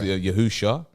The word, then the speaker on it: Yahushua: research just pronunciations okay yahoo shah i'm breaking it down the syllables are break broken down more rotted so instead of yahusha yahusha hamashiach same thing